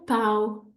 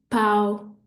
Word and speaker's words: pau: Another example would be pão, pão, nasal sound, that means bread, or pau, pau, which means wood, okay?